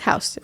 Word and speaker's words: Houston: If you didn't know, Soho is south of Houston Street. Okay, it's either Houston or Houston. No, it's Houston.